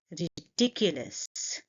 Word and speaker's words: ridiculous: Ridiculous. Ridiculous. And you see that I'm stressing on the second syllable.